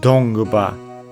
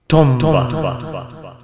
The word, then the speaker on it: Dongba: The language, and by extension the religion, is actually called Dongba, but phonetically it can also be read as Tomba.